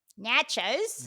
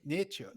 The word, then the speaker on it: nachos: say the australian one nachos not nature yes nachos nachos brandon